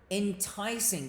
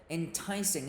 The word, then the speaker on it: enticing: for the next episode enticing guys Dess is on the second syllable enticing enticing means to persuade